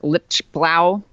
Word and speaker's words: Lichtblau: journalists including Gloria Berger Eric Lichtblau sure that's how you pronounce it Jake Tapper and